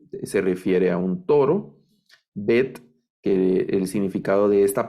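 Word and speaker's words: ב: alef que es muda la bet que es como nuestra letra b algunos hacen una diferencia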